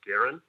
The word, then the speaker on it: Garen: my name is Gary last name pronounced Garen Garen uh my representative yeah